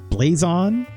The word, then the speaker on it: Blazon: It's not French. Blazon. It's spelled B-L-A-Z-O-N, all one word.